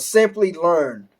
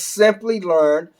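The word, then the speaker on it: Simplilearn: to you is called Simply Learn, and it's not spelled how it sounds. It's spelled with an I and not a Y. So again, that's Simply Learn, and you can take courses on AWS and Azure.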